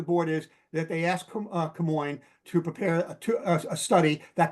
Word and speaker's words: Camoin: Lisa, can Camoin, is that how it's pronounced?